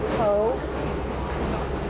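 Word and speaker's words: Cobh: And uh we're on our way to Cove, which is uh by the way that's spelled C O V H but pronounced C O V Eco.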